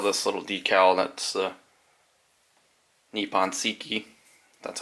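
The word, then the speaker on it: Nippon Seiki: inlay they sell this little decal that's the nippon siki that's how you say it a little decal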